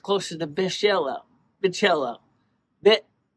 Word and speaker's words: B'ichela: It's actually pronounced closer to Michela.